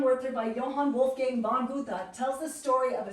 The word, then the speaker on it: Goethe: Goethe is a German philosopher and writer. He, people usually say Goethe, okay, but it's Goethe.